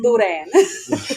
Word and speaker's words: boudin: So we heard you say that, and I'm like, oh, we got to say that right. It's boudin. Boudin.